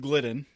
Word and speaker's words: Gildden: YouTube and Facebook um so my name's gliden that's how you pronounced my last name you're not the first